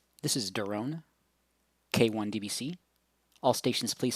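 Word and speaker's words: Doron: kilo one delta bravo charlie my name is darone that's spelled phonetically delta oscar romeo oscar november i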